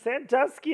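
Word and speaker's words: Sandusky: out that's a different no it's sanduski Ohio it's the name of the town it's not freaking santosi from Penn State Austin it is spelled the same way but but it was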